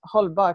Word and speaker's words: hållbart: And halbart, it means hållbart. It's actually pronounced in Swedish. It's an A with a circle over it.